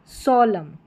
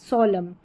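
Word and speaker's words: solemn: है autumn कॉलम हिम यहां पर है कंडम सोलम सोलम यहां पर एन जो है वह साइलेंट है।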